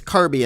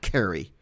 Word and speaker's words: Kirby: man to know that his name is Kirby and not Kerrie is crazy but here